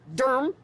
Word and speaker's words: Durham: old becomes the new we are in durm do you RM as they pronounce it here that's where I get